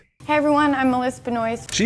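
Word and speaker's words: Benoist: Melissa Benois, I I think that's how you say it. I think it's like Benois Benoy. Hey everyone, I'm Melissa Benoy.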